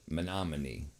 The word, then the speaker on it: Menominee: It's pronounced with the song, like the song, but with knee at the end. Menominee.